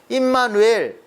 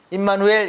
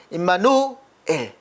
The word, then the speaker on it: 임마누엘: 잠깐 그 강의를 받았는데 임마누엘 이렇게 하면 안 임마누엘 임마누 우리와 함께 하신다 엘 하나님 그래서 두 단어라는 것을 이렇게 발음을 잘해야 된다고 이렇게 강의를 들었습니다 그래서